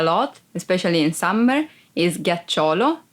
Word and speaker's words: ghiaccio: Ghiaccio, ice. Ghiaccio, ice. Be careful because if you don't pronounce G as an hard sound like G, it would be giaccio, that it's a verb and means lie down.